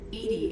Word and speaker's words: EDI: Edie is the phonetic pronunciation of EDI.